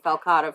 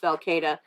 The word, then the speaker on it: falcata: to say especially since we've been saying falcotta for the longest time it is technically pronounced falcata this is a purple